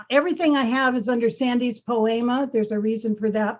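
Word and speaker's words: Sandes Poema: Like SANDES, Sandy's, spelled with an E, and then like poem with an A on the end.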